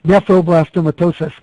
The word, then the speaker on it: nephroblastomatosis: great question so uh so it's nephroblastomatosis Terry but it's one of those things you have to like break into its syllables to be able to say so they do not